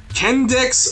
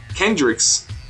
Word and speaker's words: Kendrix: see their combo potential kendex uh Kendricks Kendricks yeah that's how you say her name Kendricks she's actually really